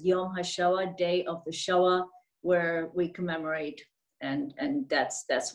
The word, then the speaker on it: Shoah: And how do I pronounce that? The word is Shoah.